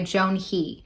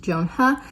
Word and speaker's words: Joan He: Then on May 5th, we have The Ones We're Meant to Find by Joan He. Hi, Editing Jocelyn here, just to say that I did not look up the pronunciation for the author's name before I filmed this, and for that I apologize.